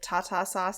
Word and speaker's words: tartar sauce: T A Tata sauce T like byebye Tata um so I didn't have tartar sauce till I was much